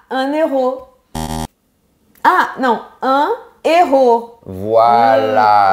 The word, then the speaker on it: héros: Ah, non, un héros. Voilà. On ne peut pas faire la liaison. Pourquoi? Parce que héros a un H aspiré. Donc, on dit un héros et pas un héros.